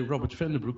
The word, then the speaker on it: Robbert van den Broeke: Many English-speaking people have trouble to say Robert van den Broek, but you say it in one time good.